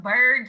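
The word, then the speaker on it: Byrd: we review the minutes mine's just pronounced bird just like larry bird but some people think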